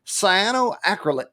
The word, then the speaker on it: cyanoacrylate: Now, you might know CA is super glue, but it's actually cyanoacrylate.